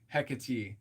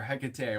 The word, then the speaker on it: Hecate: a candle to TH or to hecky or Hecate or haate however you want to say her name when someone lights a